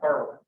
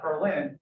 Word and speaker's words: Berlin: across the pond, and they're all pronounced wrong. All right. Right next to where I'm from, Springfield, is Athens, Illinois. Right. We also got Berlin. Not Berlin, it's Berlin.